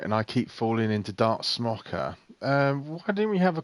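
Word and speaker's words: Smoka: it's dark smokers cuz you spell he spells it s mo ka but he says the actual correct pronunciation is dark smoker and I said well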